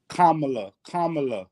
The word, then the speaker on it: Kamala: What's the agenda for the people that Kamala, that's how you say it, that Kamala is pushing?